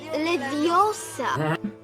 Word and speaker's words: Leviosa: Teraz wymowa. Widziałam pornosa. Mówisz to źle. Jest Leviosa.